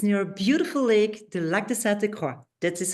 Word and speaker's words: Lac de Sainte-Croix: It's near a beautiful lake, the Lac de Sainte-Croix.